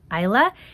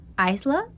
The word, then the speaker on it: Isla: It's not Isla, it's Isla.